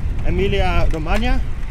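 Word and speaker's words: Emilia-Romagna: Yeah, first question, how do you pronounce the name of this region? Emilia Romagna?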